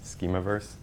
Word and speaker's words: Schemaverse: so what is a schema verse a lot of people do have trouble pronouncing it it is just to play on a schema and universe schema verse it's your classic space